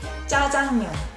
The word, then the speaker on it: 짜장면: The first syllable has double J. 짜장면. Although it's written in J, technically, but we speak it in double J sound.